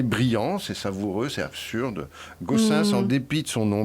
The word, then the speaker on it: Goossens: Gaussens, donc il faut le prononcer. Fluide Glacial. C'est un nom flamand.